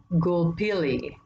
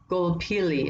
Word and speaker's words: Gulpilil: famous actors is David Gulpilil. Gulpilil, I think is how you say his name, Gulpilil.